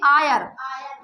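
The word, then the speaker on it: heir: जाएगा तो यहां पे इसको हम क्या बोलेंगे आयर आयर मीन्स जानते हो उत्तराधिकारी होता है क्या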